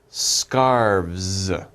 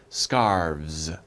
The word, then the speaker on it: scarves: or many we say scarves scarves okay you guys try scarves scarves okay so we have v and s scars okay don't pronounce the e scarves so one scarf two